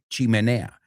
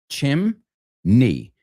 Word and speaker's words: chimney: Now, this one seems easy, but then it's not really because I've heard a lot of people say chim, but it's not chim in English. It's two syllables. Chimney chimney.